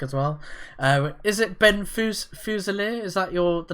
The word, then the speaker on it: Fuselier: Is it Ben Fuselier? Is that the name you go by, or? Well, it's pronounced Fuselier, but you could just call me Ben Fuse because I know it's a little easier.